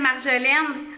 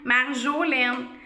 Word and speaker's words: Marjolaine: Je m'appelle Marjolaine. Marjolaine. Cette syllabe-là, elle est au milieu de mon nom.